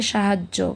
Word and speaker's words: সাহায্য: তাহলে এটা উচ্চারণটা হয়ে যাবে সাহায্য। কারণ জ এর উচ্চারণটা ডাবল হবে।